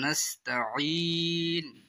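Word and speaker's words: نستعين: আইন উচ্চারণ করতে হবে বন্ধু সকল। কি হিসাবে উচ্চারণ করে পড়তে হবে আপনারা শুনেন। ইয়াকা নাবুদুয়া ইয়াকা নাসতাাইন আইনের লগে ইয়া আছে আইয়ারে ধরব বন্ধু সকলে এক আলিফ লাম্বা হবে নাস্তাইন লাস্টে আপনার তিন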